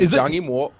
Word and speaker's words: Zhang Yimou: Zhang Yimou. That's how you pronounce it. All right. He speaks Chinese. Okay. I'm gonna take his word for it. It's hard to argue with. Now in English. Johnny Moore. Yeah, that's more like it, man.